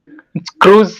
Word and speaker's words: cruise: Cruise, sir. Yes, it is cruise. The I is silent.